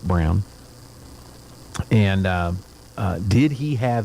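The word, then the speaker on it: Braun: his wife eva brown we say brawn in this country but in germany they pronounce it brown and uh did he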